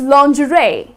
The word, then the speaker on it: lingerie: Though if you look at the spelling it's lingerie that's how people tend to pronounce it but that's incorrect the correct pronunciation is - Lawn-gray and what's lingerie, well the woman's inner wear or the night clothes. So, that is lingerie so the correct way is 'lawn-gray' so that's how you would pronounce this word.